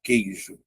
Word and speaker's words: queijo: A letra U é pronunciada? Não, pô. Então isso aqui é um dígrafo. E aí, mais uma vez, ó, separa aqui, ó, vogal uma semivogal.